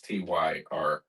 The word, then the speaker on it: Tyre: Using the rule that there is TYRE, Tyre. the Y should be long because of the E, but anyway.